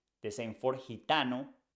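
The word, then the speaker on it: gitano: hente the same for hitano we say hitano because I comes after G so you pronounce like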